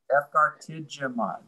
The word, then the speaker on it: efgartigimod: and I'm trying to think about how to pronounce Efgar with a J, by the way, Efgar Jidimod, you know, would be. Efgartigimod.